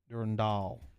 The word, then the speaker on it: Durandal: Durandal.